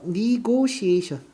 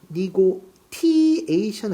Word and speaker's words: negotiation: The negotiation. negotiation 아니야. she 발음해. 소변. negotiation. 협상이란 단어입니다.